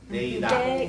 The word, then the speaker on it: Deidad: It's 2 synonyms? Deidad. Deidad. Deidad. 3 syllables. 3 syllables. Deidad.